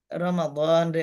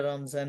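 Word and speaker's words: رمضان: আমাদের বাংলাদেশে বেশি আছে যেমন ধরেন রমাদানরে আমরা রমজান বলি এরকম রমাদান হুম রমাদান এটারে বলি রমজান তারপরে কাইফা এটা তো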